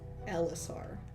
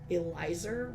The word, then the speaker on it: Lisar: say this name but my name is Lisar. It's just spelled like this. It's so straightforward and like I do think people would have had an easier time if my parents had thought to spell it this way which is the more common Englishization but uh it's this and the amount of people who will say like Elizer which is I guess a